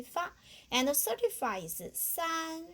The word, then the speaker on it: san: Just like a C, we need this part. And the san, we need the ran. But the first tongue, so we just say san.